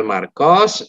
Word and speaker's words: Marcos: Baik, karena ini orang Spanyol ya, jadi bacanya S-nya dibaca. Tapi kalau misalkan dia orang Perancis ya S-nya nggak usah dibaca, Marco. Baik, je m'appelle Marcos, je suis espagnol.